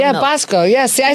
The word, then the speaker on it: Bosco: It's Bosco, right? Basco. Like the chocolate. Yeah, Bosco.